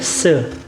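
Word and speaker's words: 四: juga Selain itu teman-teman dalam bahasa Mandarin angka 4 itu dibaca dengan search kalau di dengar-dengar sih pelafalannya mirip dengan bahasa Mandarin yang berarti kematian berarti kalau telah family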